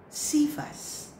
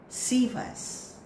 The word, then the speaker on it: Cephas: Fourth word is silently, read it aloud. And the word is Cephas. Cephas.